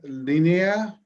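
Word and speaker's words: línea: to oblas and lina linea uh no so the emphasis is here you see that accent mark so you have to emphasize it there in linea um real quick for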